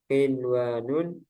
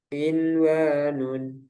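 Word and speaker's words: قنوان: Tidak berlaku hukum idgham bi gunnah pada 4 kata berikut ini, yaitu ad-dunya, sinwanun, qinwanun, bunyanun. Para ulama sepakat untuk membacanya secara jelas atau idhar karena masih dalam satu kata dan mereka menamakannya idhar mutlak. Ada yang menamakan juga idhar wajib.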